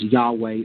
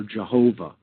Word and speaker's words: YHVH: And this, if we transliterate into the English language, is transliterated as YHVH, which comes down to us in the English pronunciation as Yahweh or Jehovah, again, names for God in the Judaic tradition.